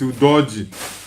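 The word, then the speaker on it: Udogie: You guys are making me to pronounce it like the Europeans. It's Udogi. That's an EU name.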